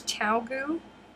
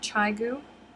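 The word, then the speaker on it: ChiaoGoo: with me hmm ugh i pronounce it chao gu really it's chao goo and not chai goo i'm new here what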